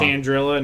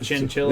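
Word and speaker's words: Chandrila: Chandrilla, not Chinchilla.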